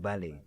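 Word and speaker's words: dọ̀bálẹ̀: You just prostrate, like you just dobala. Tabale. Dobala. Is it a D like? Yeah, Dobale. I think so. Yeah, that's how you pronounce it. Dobale.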